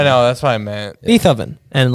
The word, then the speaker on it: Beethoven: Beethoven and like No way. How did you say it? Say it. Beethovven.